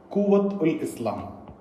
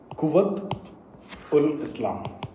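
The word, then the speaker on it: Quwwat-ul-Islam: Guys, these words are pronounced differently in different areas and by different person. So you may not agree with my way of pronunciation, but this is how I have learned it.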